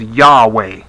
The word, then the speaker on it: Yahweh: the correct pronunciation is yahweh there's no j in the hebrew yeah i have being